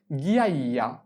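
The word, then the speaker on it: ghiaia: প্রস্থ এরপরে নুরি পাথর নুরি পাথরকে বলা হয় গিয়া গি আইয়া গি কিভাবে লিখে জি আক্কা গি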